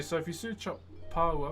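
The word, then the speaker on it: pāua: So if you search up Pa P A U A or abalone.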